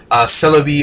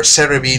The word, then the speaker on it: Celebi: Now, in addition to the update, we're also going to get Celebi or Cerebi, depending on how you like to pronounce it.